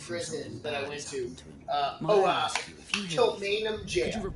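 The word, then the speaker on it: Kilmainham Gaol: Kilmainham Jail. That's the name of it, and it's spelled like Hypogean Jail, like Gaol.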